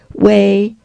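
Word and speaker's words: 巍: continues to show that Wei has 20 Strokes is in the first tone and therefore is pronounced way and is translated as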